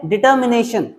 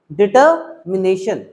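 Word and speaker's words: determination: एक वर्ड है डिटर्मिनेशन, डिटर्मिनेशन, र जो होता है वो छुप जाता है, साइलेंट रहता है, र को अ बोलते हैं, डिटर्मिनेशन, पक्का एक बार में देके करेक्ट कर दिए।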